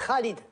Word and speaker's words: Khalid: On prononce Khalid, avec une chota comme en espagnol.